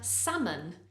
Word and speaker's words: salmon: of food we have salmon there is an L in Salmon but we don't really pronounce that l a common mistake is